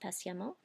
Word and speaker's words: patiemment: And, wackily enough, you're also going to hear a short A when you have an EMMENT. So you have words like patiemment. You're going to hear the short A, patiemment.